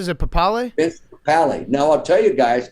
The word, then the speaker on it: Papale: Vince Papale.